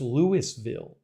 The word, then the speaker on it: Louisville: even remember oh uh Carol Preston says it's pronounced Lewisville okay Louisville maybe we should open